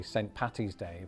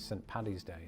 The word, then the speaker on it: St. Paddy's Day: You and all your friends really love it when Americans say St. Patty's Day versus St. Paddy's Day.